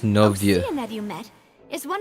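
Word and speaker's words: Neuvillette: on all the cases So that's in how to recent pronounce his years are name. It's kept. not Nue. If the It's Novieux.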